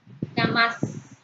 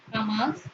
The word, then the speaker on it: jamás: Jamás se pronuncia con mayor intensidad en la sílaba más, la última sílaba. Jamás, palabra aguda.